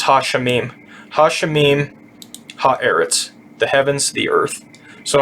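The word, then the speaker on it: הָאָרֶץ: This aleph has no pronunciation, and this little thing down here makes it eret. And then this is the ts sound. This symbol right here. So this is ha eretz, the earth.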